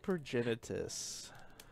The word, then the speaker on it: Progenitus: Relic of Progenitus. I think that's literally the first time I've ever pronounced that right.